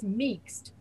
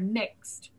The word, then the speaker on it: mixed: So if an American hears meekst, that's the past tense of a verb. They know it can't be the word meek. It has to be the word mixed, pronounced by a foreigner.